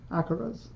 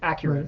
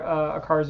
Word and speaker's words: acara: fish like electric blue acaras? Acaras. Acaras. My pronunciation was wrong. You're thinking of the car. Acuras.